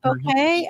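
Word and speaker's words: bokeh: Yeah, they call it bouquet. I forget how to say it. Like a bouquet of flowers, I think is how they say it.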